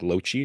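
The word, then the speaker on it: Genius Loci: our third nominee is Genius Loki, I think is how you pronounce it. Then again, uh, I know it's not pronounced the correct way, which is like in Latin, where it's like Loci, but I think it's Yeah.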